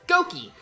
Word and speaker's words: Gokey: call me Lukey and my sister who was really young at the time fiddle quite pronounced Lukey so she would always pronounced it as goki and so you know